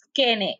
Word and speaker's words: Skene: problemas de las glándulas, la pronuncié mal. Es Skene, S-K-E-N-E.